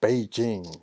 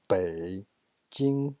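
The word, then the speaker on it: 北京: Beijing, not Beijing. That's English pronunciation. Beijing, right? Third tone and the second tone.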